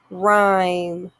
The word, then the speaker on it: rhyme: n silent g nash rhyme r h silent h er and new k